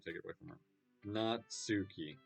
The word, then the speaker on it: Natsuki: I don't really care how old everyone is, but if Nagasaki is feeling proud, then I won't take it away from her. Natsuki.